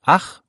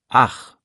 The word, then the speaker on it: ach: Kurzer Tipp zur Aussprache, weil viele da kämpfen. Ich mit weichem CH wie Luft. Und ach mit hartem CH tief im Hals. Ich, ach.